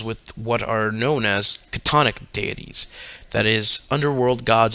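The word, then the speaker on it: chthonic: what are known as catonic deities that is underworld gods and goddesses much like the leviathan of the old testament the pronunciation of katonic is catonic which explains lovecraft's famous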